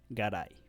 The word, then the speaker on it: Garay: So, for example, in the last name Garay, we have a vowel A, and we have the letter Y, which is pronounced as E. Garay.